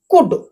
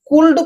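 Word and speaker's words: could: एटा भी तारो ट्रिक जानि थांतो एठी देखंतो कुड एठी सी ओ यू एल D Jote U एल डी रहिबो सेठी आपण एल को पढ़िबे नाही ध्यान देबे एल को पढ़िबे नाही कुल्ड पढ़िबे नाही एल टा साइलेंट रहिबो कुड पढ़िबे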